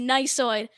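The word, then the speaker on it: gneissoid: i actually got it so the silent g to start the word i mean and then not only that there's an e i and then there's a double s yeah i'm done i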